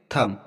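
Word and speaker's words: thumb: बाद बी आया है तो इसको बी हमारा साइलेंट रहेगा इसको कॉम पढ़ेंगे नेक्स्ट एग्जांपल देखते हैं थम यहां पर देखो एम के बाद बी आया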